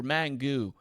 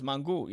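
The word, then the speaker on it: mangú: love Dominicans and they're mangoo." And then it's like, it's funny because yeah, like you're ignorant. You're not saying it right. It's mangu and I'm not Dominican, by the way.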